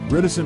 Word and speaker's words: reticent: help you memorize this reticent rhymes with silent imagine a silent patient